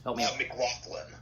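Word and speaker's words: MacLachlan: Cliff Vandercave, being played by Kyle, how's his last name pronounced? Help me out. McLaughlin. McLaughlin? McLaughlin.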